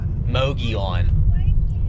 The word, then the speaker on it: Mogollon: Mogollon.